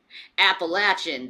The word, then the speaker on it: Appalachian: o hom oo cinnamon Bo appalachin appalachin is that that's how they say it